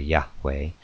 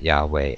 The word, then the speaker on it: Yahweh: in PR practical terms the pronunciation is probably Yahweh or something very similar and this is the